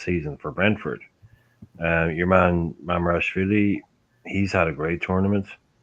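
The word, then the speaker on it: Mamardashvili: Your man Mamarashvili, he's had a great tournament.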